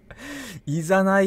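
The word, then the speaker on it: 誘い: イザナイって読むらしいですよ。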